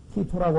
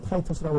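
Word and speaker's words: Titus: 왜냐면 AD 70년에 예수 그리스도께서 돌아가신지 약 30년 후에 AD 70년경에 티토라고 하는 보통 뭐 영어로는 타이토스라고 발음을 하는데요.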